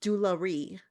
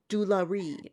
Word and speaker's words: jewelry: The word jewelry is not jewelry. Jewelry.